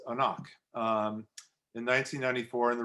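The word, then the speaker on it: anCnoc: n o c uh you would think it would be anknock but it's a knock um in 1994 and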